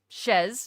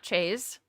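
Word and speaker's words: chaise: Also did some measuring in the living room and found out that the chase uh couch, it's pronounced shezz, not chays.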